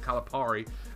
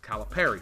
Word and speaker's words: Calipari: I've been saying it wrong the whole time because I always said Calipari. And when he announced his name the other day, or when I first heard him say his name, he says Calipari.